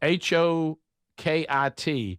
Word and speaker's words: Hokit: Is it Hockett? Hit H O K I T. Yeah. Hokit.